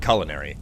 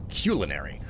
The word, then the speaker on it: culinary: It's a little bit like the word, culinary. Everybody says it culinary. If you look it up in the dictionary, the original pronunciation is culinary.